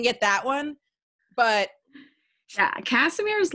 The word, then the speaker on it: Kassimir: I don't know why I just pronounced it wrong. It's Kassimir. Okay, I have such a hard time pronouncing it.